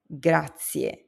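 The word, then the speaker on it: grazie: The next word is gracia. Thank you. Gracia. Now notice the zed in Italian zed very often sounds like satia.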